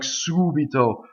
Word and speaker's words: subito: Some words like subito, balsamo, they have two before the end where the accent is, okay?